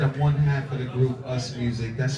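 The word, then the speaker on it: USMUZIQ: I said I'm one half of the group Us Music. That's spelled U-S-M-U-Z-I-Q.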